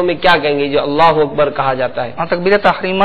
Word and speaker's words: اللہ اکبر: اللہ اکبر. دہرائیں، اللہ اکبر.